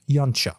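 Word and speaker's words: Yautja: thus gotten himself confused the actual pronunciation of the most used species name for the predator species is something like yancha with that corrected we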